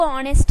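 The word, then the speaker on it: honest: वह साइलेंट हो गया डायरेक्ट हम ओ का उच्चारण कर रहे हैं यहां पे मतलब कि यहां पे एच जो है उसको हम छोड़ दे रहे हैं उसके बाद डायरेक्ट ओ से उच्चारण करें बट स्पेलिंग में आपको ऑनेस्ट लिखना है गाइस ओके उसके बाद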